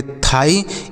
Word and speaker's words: thigh: आई, तो इसे पढ़ेंगे थाई। यहाँ पर GH जो होता है यह साइलेंट होता है, मतलब हम इसे नहीं पढ़ते हैं, तो इसे क्या पढ़ेंगे?